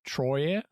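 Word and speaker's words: Troyes: an order by the Council of Troya or Troy yes is spelled but I believe it's just Troy money and recruits started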